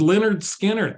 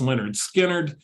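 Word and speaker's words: Lynyrd Skynyrd: have than to go whimsical and go pronounced Leonard Skard. The band Leonard Skinnard, their first album was released 50 years ago.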